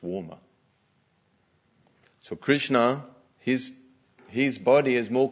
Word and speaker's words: Krishna: around his names is also Krishna with an accent on the a so Krishna is the